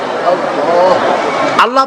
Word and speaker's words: আল্লাহ: বলে না আল্লাহ আল্লাহ পাকের উচ্চারণটা হচ্ছে আল্লাহ পাকের নামের উচ্চারণ হচ্ছে আল্লাহ আল্লাহ মুখটা একটু গোল হয়ে যাবে বলেন আল্লাহ আল্লাহ সুবহানাল্লাহ